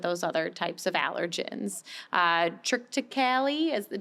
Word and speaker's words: Triticale: Triticale, did I pronounce that one? Triticale. Oh, okay, that was it.